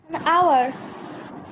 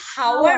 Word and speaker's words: hour: আচ্ছা, আমি তোমাদেরকে বলি HOUR, এটার উচ্চারণ কি হবে? আওয়ার। হ্যালো, HOUR, সবাই বলো। আওয়ার। আওয়ার। আওয়ার, ইয়েস, আওয়ার, HOUR হবে আওয়ার। এখন আমি যদি হাওয়ার উচ্চারণ করি, হাওয়ার, তাহলে এটার কোনো শব্দ আসবে?